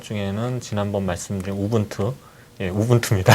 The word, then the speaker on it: Ubuntu: 없고 또 보통 그 ubuntu 닷컴은 뭐 우분투 라고 하는데 제가 u 분투 라고 발음을 해서 또 4 않음 부터